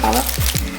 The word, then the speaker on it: Bala: That's how you say it, Bala.